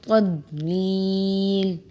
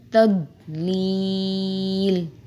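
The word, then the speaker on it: تضليل: کو تلفظ نہیں کرتے۔ فی تضلیل، فی تضلیل، یہاں ضاد کی ادائیگی پہ جو ہے آپ نے توجہ دینی ہے۔ فی تضلیل، الم یجعل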